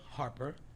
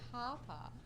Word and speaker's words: Harp: So we talked today because Elisa Harper. It's her is birthday. name. It's her. What? Not Harper. Okay. Harp. What is it? You got an accent. How do you say it? Harp. Harp. Okay. Harp.